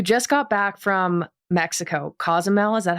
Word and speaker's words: Cozumel: So you just got back from Mexico, Cozumel, is that how you say it?